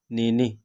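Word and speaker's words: nenek: है ठीक है दातो दादी नेने यहां पर भी के साइलेंट ही होगा ठीक है नेने पोता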